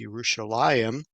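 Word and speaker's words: ירושלים: of understanding that like the word Jerusalem in Hebrew there is no J so they have a a y sound so it's yerushalayim and then they're talking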